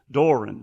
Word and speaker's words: Doe Run: them in Doe Run Doe Run Georgia Doran Doran anyway it's spelled d o e r u n so it's kind of